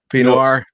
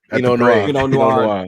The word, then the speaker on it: Pinot Noir: How you pronounce it? Pinot Noir. Pinot Noir.